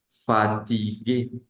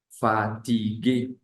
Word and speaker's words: fatigué: y u e fatigue pero si esa e al final lleva un acento eh como el de nosotros una tilde como la de nosotras como la de nosotros se pronunciaría fatigué fatigué Que traduce cansado fatigado